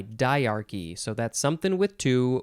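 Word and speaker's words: dyarchy: to have to look ahead to get the pronunciation diarchy d y a r c y diarchy so that's something with two we'll learn about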